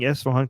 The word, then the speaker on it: Esfahan: I'm like, why is he the only Westerner that is pronouncing Esfahan correctly?